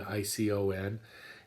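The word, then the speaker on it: εἰκών: o n uh but pronounced just like our word icon icon and um icon both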